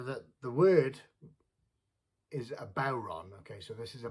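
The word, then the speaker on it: bodhrán: the word is a bauron okay so this is a bauron some people pronounce it buran but uh traditionally called a bauron which is a gaelic irish word uh the question is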